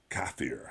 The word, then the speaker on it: kafir: a heretic, is a kafir, I believe is how it's pronounced in Arabic.